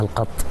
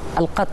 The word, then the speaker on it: القط: القط ولا القط العصيري وشلون تنطق بالطريقه الصحيحه الطريقه الصحيحه اسمها القط القط نعم القط والكلمه ش يعني و